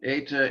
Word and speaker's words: eta: compare it with um eta is like feta fate is that an